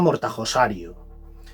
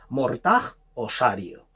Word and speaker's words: Mortajosario: extraño, que se llama Mortajosario. No confundir con Mortajosaurio porque el nombre es muy confuso y muy complicado de pronunciar. Mortajosario.